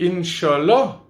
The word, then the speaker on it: inch'Allah: un petit truc inch'Allah c'est la prononciation francophone dans mon pays on dit inch'Allah et bien sûr ça